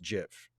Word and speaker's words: GIF: And that thing is pronounced GIF.